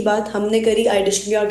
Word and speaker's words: iDigitalPreneur: ये हो गई हमारी फाउंडर की प्रोफाइल की बात, हमने करी कंपनी की बात, हमने करी iDishlepreneur के वर्टिकल द रिच की बात.